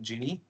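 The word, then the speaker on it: Gini: a term which is known as we generally pronounce it genie somebody calls genine but mostly it is genie index this is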